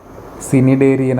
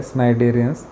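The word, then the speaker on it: Cnidarians: स्नायडेरियन्स हव प्रोटेक्टिव्ह कव्र आता हे सिनिडेरियन आता प्रोनन्सशन स्नायडेरियन्स तर त्याच्यामध्ये कुठले स्नायडे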